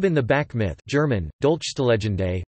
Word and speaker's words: Dolchstoßlegende: The stab in the back myth, German, Dolchstelegende, pronounced DLC2SLEN, listen, was the notion, widely believed and promulgated